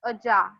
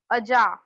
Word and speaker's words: अजा: अजा, नॉट आजा, इट्स अजा, हिंदी वाला आजा नहीं है ये। अजा, गोट।